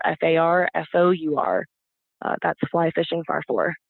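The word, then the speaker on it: Farfour: is fly fishing farfor so far for is my last name it's spelled like far away in the number for f a r f o Ur that's fly fishing far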